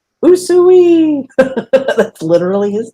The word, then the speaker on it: Usui: to say his name think about calling cows and pigs in the old-fashioned way usually that's literally his name